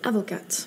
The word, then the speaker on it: avocats: Elle dit que ses parents sont avocates à la place de avocat. Là encore une fois, elle a prononcé le T alors qu'il ne faut pas le prononcer comme Margot Robbie dans Croissant, Croissante.